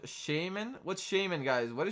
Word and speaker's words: Shaymin: you mean yeah you can give skins it's pronounced Shaymin what's Shaymin guys what a shame in what